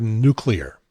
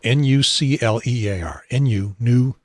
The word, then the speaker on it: nuclear: And when I learned how to spell it, it's kind of like the word nuclear. It's spelled N-U-C-L-E-A-R.